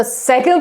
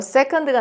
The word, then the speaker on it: second: second I'll explain the second part 제가 세드라 했는데 또 바로 세컨드가 나왔는데요 세컨드 하지 마세요 여러분 세입니다 약간 세끈 빠끈 아다 할 때 그 세금이라고 하시면 좋아요 발음이 정확하게 second the second part 자